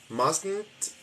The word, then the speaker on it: mustn't: here that must not mustn't there is the pronunciation of what we like to call the nasal T it's actually very easy